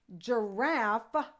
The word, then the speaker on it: giraffe: Well, in this case, giraffe is also using the soft G sound, J.